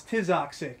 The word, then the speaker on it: Tizoxic: So we had Noah Kai, Tizoxic? You have to forgive the pronunciation on some of these. Tizoxic. Oh, like it's toxic, but it's Tizoxic.